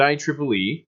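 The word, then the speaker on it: IEEE: signal dies you so our good friends at I Tripoli pronounced I Tripoli important name you need to know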